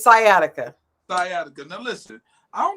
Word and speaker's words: sciatica: know what how do you say it it's sciatica sciatica now listen I don't know why y'all